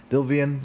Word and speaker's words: Delevingne: Cara Delevingne. Delevingne, that's how you say it.